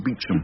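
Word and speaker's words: Beauchamp: lot will depend on superintendent Bush pronounced beachum and what's he like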